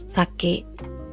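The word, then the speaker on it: 酒: bebida alcohólica en Japón se dice saque, saque, saque, así se pronuncia el alcohol en general. Entonces, en el caso de bebida alcohólica es bajo, alto.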